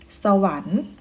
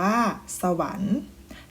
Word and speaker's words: สวรรค์: นะ คะ เช่น เคย นะ คะ ให้ ออก เสียง เป็น อัน ยก ตัว อย่าง เช่น ชัก กัน อ่าน ว่า ชัก กัน สวรรค์ อ่าน มา ว่า สวรรค์ ตั้ง ครรภ์ อ่าน ว่า ตั้ง ครรภ์ มี การ อ่าน คำ